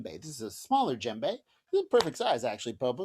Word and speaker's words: djembe: or a j but it actually starts with the letter d but we don't really pronounce the d the d is kind of silent so we call it jembe gem gembe gembe so